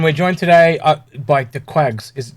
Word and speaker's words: Dquags: for um and we're joined today uh by the quags is it twags the quarks i'm terribly pronouncing your name i'm butchering it it's your quags but yeah okay oh yeah yeah i